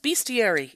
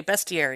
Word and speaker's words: bestiary: It's an Old English bestiary, which can also be pronounced bestiary. Either way, I like to say bestiary because it has the word best.